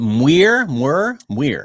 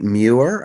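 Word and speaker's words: Muir: So uh John Kenneth is it mir? It's actually muer like muer. I've said every I said it wrong every m it's not the easiest name to pronounce. Rhymes with fewer.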